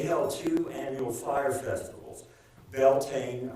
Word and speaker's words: Beltane: Beltane around May 1st, and in Gaelic it's pronounced Beltinia, and Samhain around November 1st.